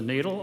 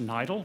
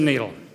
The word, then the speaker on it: NEIDL: Laboratories at Boston University also known as the needle although those of you who speak German will know that it should be pronounced nidle but that's not the pronunciation that we use uh so it is a needle I'd first like to introduce uh Boston University's